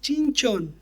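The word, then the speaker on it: שמשון: de luz en hebreo el nombre es chinchon ya es chistoso para nosotros un poquito pero así es la pronunciación en el hebreo y tiene esta connotación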